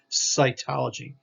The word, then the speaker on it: cytology: that s sound soft see cytology here's a c followed by a y cytology o g the study of cyto cells is the study of cells so that's that soft c sound the hard c sound